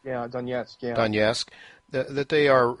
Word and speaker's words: Donetsk: So now, as I understand it, Daniel, the eastern provinces, Lugansk and Donetsk, how do you pronounce? Yeah, Donetsk.